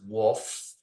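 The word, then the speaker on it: Wolff: So I guess you can say my name is pronounced Wolf. And think of the big Brad Wolf, Yeah.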